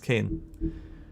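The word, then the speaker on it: cairn: I think the R is silent with that word. A small pile of stones to represent the many Yeah, it's Kane.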